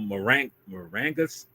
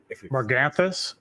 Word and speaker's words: Morganthus: planet which is called Marangus. I'm saying it wrong. Marangus, I think. Morganthus. Morganthus. Thank you.